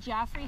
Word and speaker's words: Geoffrey: Geoffrey, how do you spell that? With a G. Okay, so like Geoffrey. Okay, great. Yep. Nice to meet you, Geoffrey. I'm sorry, how did you pronounce it? It's Geoffrey.